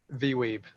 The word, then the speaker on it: VWEEB: VWEEB, that's how I pronounce it.